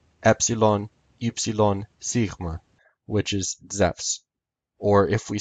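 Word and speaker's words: Ζεύς: o u s in greek the name zeus is spelled zeta epsilon upsilon sigma which is zephs or if we spell the greek name with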